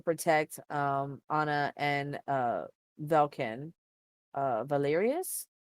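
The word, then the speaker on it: Valerious: Anna and uh valken Valerius is that how you pronounce their last name Valerius I think so yes cool um God um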